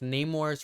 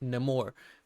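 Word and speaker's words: Namor: was no more and it's not pronounced Neymar's from announced nemour because it's no more like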